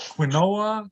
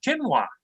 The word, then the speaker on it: quinoa: It's called quinoa or quinala or quinine or something like that. But my wife corrects me all the time. She says, "No, it's quinoa."